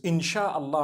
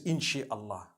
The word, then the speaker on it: insha Allah: inchi means to create no one says inshi Allah they say insha Allah that's what it